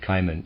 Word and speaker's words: Cimon: Cimon, I'm going to pronounce that Cimon, C-I-M-O-N, a well-known historical figure, had a friend called Astyphilus, who knew how to interpret dreams.